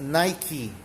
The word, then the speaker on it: Nike: the goddess of victory Nikki you might have seen that name but pronounces Nike and it's a brand